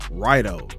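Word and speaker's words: Raidō: It's called Rido instead of Rado, how I've been saying it.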